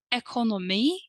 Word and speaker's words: ekonomi: For example, our answer might be: jag arbetar med IT, barn, ekonomi eller städtjänster. I work with IT, information technology, children, barn, economics, economy, the stress is on the E at the end, or cleaning services, städtjänster.